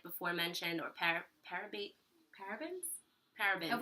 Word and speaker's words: paraben: mentioned or par parab parabens parabens we're saying it wrong you could help us out it's paraben it looks we see